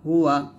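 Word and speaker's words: هُوَ: হু ওয়াও জবর ওয়া হুয়া আল্লাহু লা ইলাহা ইল্লা হুয়া আপনারা বলবেন অবশ্যই আল্লাহু লা ইলাহা ইল্লা হুয়া যদি ওয়াকফ ধরে তাহলে বলতে হবে আল্লাহু লা ইলাহা ইল্লা হু এরকম ভাবে পড়বেন তো এটার অর্থ হচ্ছে আল্লাহ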